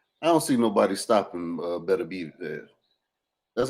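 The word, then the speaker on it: Beterbiev: an unwinable fight I don't see nobody stopping better be that's how you pronounce his name Better B better be who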